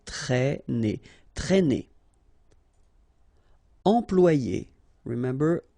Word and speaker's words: traîner: Okay, accent circumflex here, so you should write it, but then keep in mind that you don't pronounce it, so it doesn't change the pronunciation of this combination of two letters, A and E together, it's E, okay, traîner, traîner.